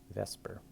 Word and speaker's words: VSEPR: pair it's actually let's vesper so it's like a kind of almost like viper or something it has a weird pronunciation so this is valence